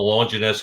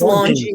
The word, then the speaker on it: Longines: And the Longinus clock. Am I saying is it pronounced Longinus? I don't even know. I'm not sure. Yeah. Longines. I think it's Longines.